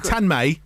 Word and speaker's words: Tanmay: We're joined in the studio by Rohan and Tanmay as well. See, very Indian way I pronounce it. Well done. Well done. I could have said Tanmay.